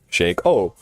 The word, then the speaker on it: Shaco: The Shack is spelled C-H-A-C-K. Shake, S-H-A-K-E. Replace one letter and what do we got? Shake O.